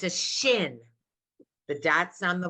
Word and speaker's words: shin: name of the letter thank you it's a shin but that's on the right go to the